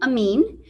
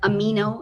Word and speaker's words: Amin: the wonderful dr amin uh if you are having trouble wondering or remembering how to pronounce his name think of it like amino acid dr amin um dr